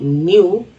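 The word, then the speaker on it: knew: ही न्यू, ई डब्ल्यू क्यू, न्यू, इसमें के silent, he न्यू that we were बोलते हैं, कुछ लोग वेयर पढ़ते हैं लेकिन वर पढ़ेंगे।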